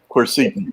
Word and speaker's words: quercetin: Quercitin? Quercetin, yep.